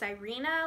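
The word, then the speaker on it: Syrena: now this is actually called the thing it's pronounced Irina legacy but it's written by Anna banks and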